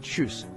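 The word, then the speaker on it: Tschüss: More informal is choose the ch like the ch in cheese and u like before it sounds like choose.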